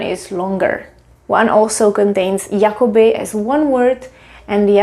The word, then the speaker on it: jakoby: We don't pronounce it as Jakoby and Jakoby. It sounds exactly the same.